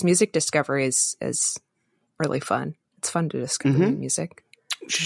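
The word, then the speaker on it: Pho: Audrey was talking about F and for those of you who don't know oh no f is spelled pH oh no it's a Vietnamese soup delicious uh mean I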